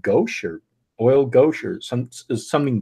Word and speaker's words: gouache: I think it's called gouache or oil gouache or something gouache or gouache.